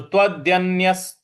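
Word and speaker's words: तदन्यस्य: तदन्यस तदन्यस देखिए त के बाद जो आधा न है उस पर हमको आघात देना है।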